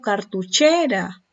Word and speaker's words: cartuchera: Miren, esta es la última y esta es la penúltima. Entonces, cuando es una palabra en donde la mayor fuerza de voz está en la penúltima sílaba, su clasificación es grave. ¿Y por qué no se tildará esta sílaba? ¿Por qué creen? Porque está terminando en vocal.